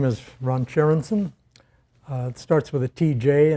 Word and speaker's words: Tjerandsen: Well, my name is Ron Tjerandsen. It starts with a TJ, and it's pronounced Tjerandsen with a TJ, so it's pronounced just like the chair you're sitting on.